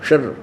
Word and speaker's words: क्षर: क्षर अक्षर शर, इसको वैसे उच्चारण करते हैं शर शर, लेकिन हम समझाने के लिए इसको देसी भाषा में बोला, अपने संत भाषा में क्षर पुरुष और अक्षर पुरुष।